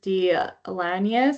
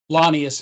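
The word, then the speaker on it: Launius: Lonnias is the correct pronunciation.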